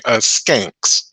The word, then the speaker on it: Skanks: more unusual ones is the surname is skanks s-k-a-n-k-s it is filled all kinds of ways sometimes it's spelled s-c-a-n-k-s sometimes it's actually spelled Shanks this particular family ended